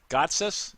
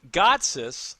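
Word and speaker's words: Gotsis: just said it right God's us yes yeah you did that time yeah that's right yeah so God's us I think has gotten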